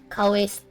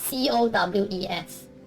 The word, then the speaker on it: Cowes: It's the Cowes Town, something like that. I don't know how to pronounce it. Cowes.